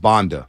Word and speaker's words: Banda: Pronounced Banda.